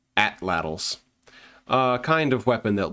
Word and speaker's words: atlatls: slings and bolos, and what for a long time I somewhat embarrassingly pronounced atlatls. In fact, it's pronounced atlatls.